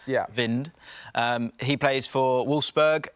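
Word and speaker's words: Wind: I've got Jonas vind I am famous for getting all pronunciations absolutely incorrect but I'm pretty sure it is vind um he plays for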